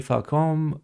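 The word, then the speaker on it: Facom: Fun fact, the French tool company Falcom, now part of Stanley, is pronounced with a hard C.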